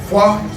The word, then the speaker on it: Phwah: Phwah, I spell it P-H-W-A-H. Phwah. You make this sound, it's a magical sound, like a kung fu sound, like a karate sound.